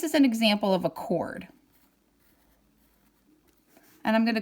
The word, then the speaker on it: chord: Okay, what follows a diameter is a chord, and it's spelled like chord, C-H-O-R-D, but we pronounce it chord.